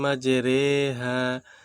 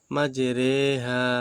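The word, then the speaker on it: مَجْرٜىٰهَا: হুদের 41 নম্বর আয়াত এখানে আমরা একটু এমালা করে পড়বো বিসমিল্লাহি মাজরেহা মাজরেহা ওয়া মুরসাহা এই যে র খারাজের ঋ হওয়ার কথা ছিল রসিকার তাই না ঋহা কিন্তু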